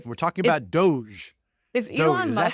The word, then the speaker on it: Doge: hopeful I would say like we're talking about Doge is that how you pronounce it Doge yes it's from an internet meme that features